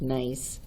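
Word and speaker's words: gneiss: the foliated texture of this is pronounced nice or nice slate is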